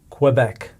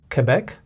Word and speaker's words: Quebec: special mention about Quebec because it is a French name it enjoys French pronunciation and that means that